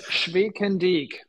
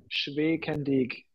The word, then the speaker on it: Schwekendiek: It's pronounced Schwekendiek for the ones who care. Schwekendiek.